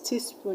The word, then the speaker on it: teaspoon: And teaspoon, you're going to stress spoon.